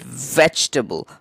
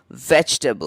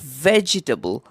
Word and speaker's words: vegetable: mispronounce it so often it is again a ye silent word right so the e after the G silent and that makes it vegetable vegetable it is not vegetable I've got a line